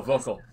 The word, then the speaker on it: Volkel: spearman vixen and uh volkel is that how you say it vocal yeah oh vocal yeah yeah well i'm sorry